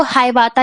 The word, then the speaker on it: Hiawatha: आप इसे हिंदी में हिवायता भी पढ़ सकते हो, बट उसका जो बेसिक प्रोनाउंसिएशन है वो हिवायता ही रीड किया जाता है।